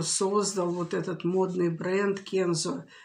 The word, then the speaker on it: Kenzo: вот этот модный бренд kenzo ударение правило ставить на первый слог именно кинзы он пару лет назад